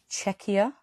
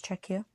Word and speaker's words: Czechia: I'm female, 22, from, and I had to Google the pronunciation of this word because I didn't want to get it wrong, Czechia. That's what it says, Czechia.